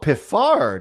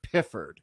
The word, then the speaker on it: Piffard: say you know but we're famous for these unpronounceable place names larry oh piffard isn't it really all these years i've been calling it piffered it's located about five miles from a town